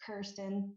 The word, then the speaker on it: Kirsten: But my name is actually pronounced Kirsten, and few Okay.